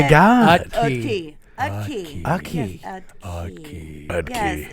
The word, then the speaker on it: Utke: Yes, Utke. Yes, it starts with a U. Like, The T is silent. Utke.